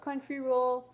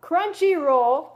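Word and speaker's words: Crunchyroll: looters enjoy a special 30-day free trial of country roll CR country roll wow crunchy roll it says it right here and I'm freaking mispronouncing it crunchy roll just for you largest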